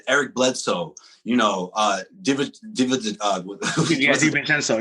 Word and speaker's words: DiVincenzo: Eric Bledsoe, you know, DiVincenzo, yeah, DiVincenzo. I always forget the syllable, or I always try to add it.